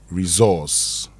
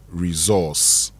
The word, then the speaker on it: resource: Many of us, yes, we see the S and we say resource. Okay? But if you want to say it right, it is resource. Okay. Resource. Yes. So the S becomes Z, and the C becomes S.